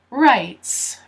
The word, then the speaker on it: right: Of rights. So if you remember, for right, we don't pronounce the G or the H, but this is plural, so it has the S.